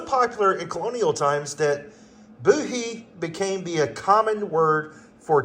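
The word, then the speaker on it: Bohea: black tea blend lightly Smoky and it is pronounced Boi not boohoo booh booh okay boy it is a distinctive black tea blend with a light Smokey Smoky flavor it was so popular in colonial times that buhi became the common word for tea during that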